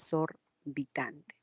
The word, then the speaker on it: exorbitante: alhaja exorbitante A ver exorbitante es solita tante no la x va con la segunda vocal es sorbitante en el caso de